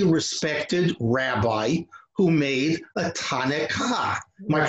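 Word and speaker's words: takkanah: The response was some highly respected rabbi who made a Tanekah. Am I pronouncing it correctly? Takana, that's right, Takana.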